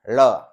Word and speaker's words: ळ: को लिखते हैं और इसका उच्चारण ल और ड़ के बीच होता है, ळ। ल को यदि आप दंत की जगह मूर्धन्य बना के बोलें, यानी जीभ के अगले हिस्से को मूर्धा में सटा के बोलें, तो यह ध्वनि उच्चरित होती है, ळ।